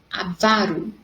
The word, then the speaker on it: avaro: Ele é avaro, pois passa fome para não gastar seu dinheiro. Então, vocês teriam que sublinhar ali a parte da sílaba vá, que é a sílaba mais forte quando eu pronuncio.